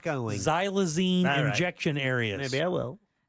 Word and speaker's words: xylazine: i n e wait zyla Zen Z just like magazine oh I totally spelled